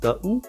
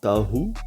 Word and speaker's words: Tahu: Et grâce au pouvoir confié par leur dieu nommé Tahu, ou Tahu, parce que ça s'écrit T-H, non, T-A-H-U.